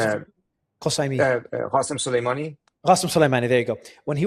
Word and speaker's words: Qasem Soleimani: And when it comes to retaliation, we saw limited retaliation, if any, when Suleiman Qasemi, what can you pronounce it? Qasemi. Qasem Soleimani. Qasem Soleimani, there you go.